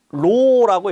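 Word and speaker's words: ρ: 구자 거꾸로 해 놓은 거 같은이 표현이에요 얘는 로라고 했습니다 로라고 일 거예요 자 그다음에 동역하고 압력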